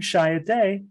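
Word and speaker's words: Chiat/Day: So I got to the dean's office and knew the code for long distance, called Los Angeles, and I heard, good morning, Shia Day.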